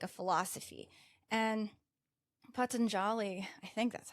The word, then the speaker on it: Patanjali: And Patanjali, I think that's how you pronounce his name.